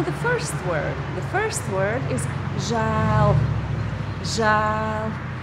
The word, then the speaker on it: žēl: Žēl. There is the long vowel, it's the broad form of that vowel. It can be pronounced narrow as well, as ē, but in this word we pronounce it broad.